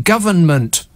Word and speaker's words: government: it like this G there's three syllables in the word man tried saying government government it's like like he's teething it's not too hard is it g anyway labor have